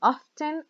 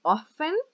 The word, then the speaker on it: often: family often come to pronunciation can be often or often both are correct and she usually goes